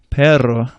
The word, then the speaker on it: perro: And a double R is a trill. Rrr. It takes practice. You're blowing air over the tongue. It took me about a year to learn how to do it, actually.